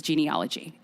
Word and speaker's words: genealogy: So the American pronunciation is genealogy.